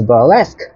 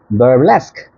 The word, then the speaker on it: burlesque: The very last word we're going to learn today is burlesque. Burlesque. Try to pronounce the K of the last.